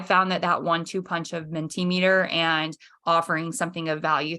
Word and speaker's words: Mentimeter: Mentimeter is Mentimeter.